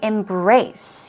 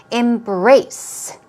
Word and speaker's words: embrace: We've got just 2 vocab words for you, the first being embrace. Here we go. Stress goes on the second syllable. Embrace.